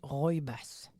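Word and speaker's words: rooibos: à dire ça hein on devrait prononcer ro bass le RO ro boss là parce ça c'est écrit r o o i B O S là c'est un breuvage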